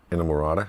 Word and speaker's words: Inamorata: There's can someone please pronounce the last song on the record, please? Inamorata.